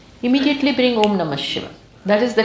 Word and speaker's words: Om: When we say Om, it has these three syllables. A, U, Ma. When you open your mouth, A. In between, U. When you close your mouth, when your lips come together, Ma. And then silence.